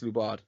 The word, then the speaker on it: Lubard: How's it pronounced? Lubard or Lobard? Yes, Lubard.